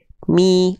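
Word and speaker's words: مِ: Bi m enggak. Tapi bi mi. Angkat tengah lidah. Rendahkan rahang bawah.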